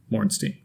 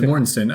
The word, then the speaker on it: Mortensen: Mortenstein. Is that how you say it? Oh, yeah, that is right. I was just pronouncing the way it was spelled. It's Mornstein, right? No, it's Mornstein.